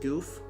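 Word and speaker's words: Gouf: gunpla okay it's pronounced goof I know it's spelled g-o-u-f so I'm like is it gof but it could definitely be pronounced goof and I know you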